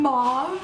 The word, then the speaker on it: mauve: Gabbie: Mauve. (rhymes with 'ah') Molly: Mauve! (rhymes with 'oh') G: Mauve. M: Mauve. G: Girl, mauve.